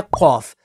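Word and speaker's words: قاف: और फिर है खौफ, तो खौफ देखें, खौफ, अलिफ और फ़ा, तो ये भी 3 लेटर्स के साथ कंबाइन होकर प्रोनाउंस होता है।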